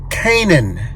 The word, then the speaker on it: Canaan: I get this right the pronunciation of the park that we're at is Canaan Canaan Valley State Park c-a-n-a-a-n Canaan Valley State